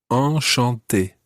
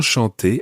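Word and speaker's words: enchanté: in bonjour and bonsoir all chante is a slightly different nasal sound and your mouth needs to be wider for that oh shantae and and that's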